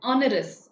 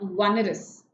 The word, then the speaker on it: onerous: So it says onerous. Okay, not onerous. Right? This is the UK pronunciation that you've been listening.